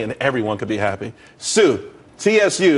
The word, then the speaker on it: TSU: there's more money and everyone could be happy Sue TSU it's pronounced Su though that's a that's a website.